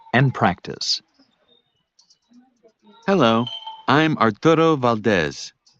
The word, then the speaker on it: Valdez: Actually, it's Valdez. How do you spell that?